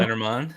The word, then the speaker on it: Lenormand: Lenormand.